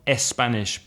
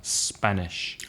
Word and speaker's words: Spanish: instead of saying Spain you could say s Spain which is not correct and not s Spanish but Spanish and the classic s